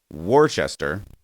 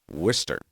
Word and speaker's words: Worcester: fan of pronunciation and the word worchester i have been reliably told you actually pronounce worcester or if you're really